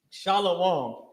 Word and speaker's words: Shalom: Shalom is sha law connected law ma with ma at the end uh singular right it's just the it's just the ma is not pronounced heavily because of how you